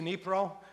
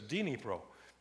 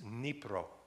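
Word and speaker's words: Dnipro: southern part of Germantown maybe right Keith to nipro and by the way you see this well it says Greg it says dinipro but you pronounce it you you drop the the D it's nipro nipro um and been there a couple of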